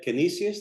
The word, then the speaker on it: Canisius: He is also an adjunct professor at Canisius. Did I pronounce that correct, Father?